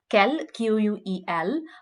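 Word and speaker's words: quel: is feminine it's q-u-e-l-l-e but then it's only in the written form that they had different spellings and this is why uh it's quite easy if you just want to learn to speak french because then you don't you forget about the the spellings and you just need to concentrate in the pronunciation which is the same for both words so it's so let's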